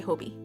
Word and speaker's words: Hobbii: I know a lot of people say Hobie to not be confused with that store. So I'm gonna say Hobie.